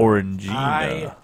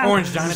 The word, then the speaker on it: Orangina: You learned Thing it's is, pronounced I Orangina. highly doubt it. Also, that it's pronounced Ruta. All Orange right. Gina. Stop. Orange Gina till I Stop.